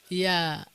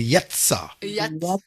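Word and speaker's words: יצא: Yat. Yat. Non, il faut prononcer comme si il y a deux lettres. Un T et un S. Alors, il faut dire Yatsa.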